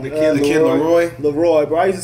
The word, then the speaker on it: LAROI: This kid's name wrong. The kid Leroy. Bro, I used to say Larlo.